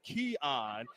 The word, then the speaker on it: Keon: I've been calling him Kean Lewis throughout the entire season someone let me know his name is Keon even though it doesn't look like it it is pronounced Keon so start static with